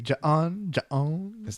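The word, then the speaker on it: J'onn: And then I knew- even pronounced it correctly. Ja'on.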